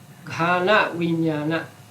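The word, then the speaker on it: ghānaviññāṇa: I want you to pay attention to my pronunciation so that you can read Pali. Ghana Vijnana.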